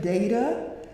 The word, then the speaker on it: data: data walk and yes I say data um because that is a correct pronunciation quite frankly but anyway uh